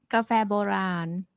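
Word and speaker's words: กาแฟโบราณ: boron is that right cafe boran yeah the longer a there's cafe cafe cafe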